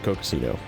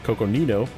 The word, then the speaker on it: Coconino: reserve and Gateway to cocino oh I'm saying it wrong Coconino so let's just take